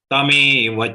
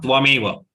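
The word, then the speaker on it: तमेव: Tame, not tvameva. Please remember, always mistake happens. We say tvameva. It is tameva.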